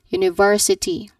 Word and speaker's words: university: University. Now to clarify um the stress should be in the third syllable and then you should say it as ver not university but university.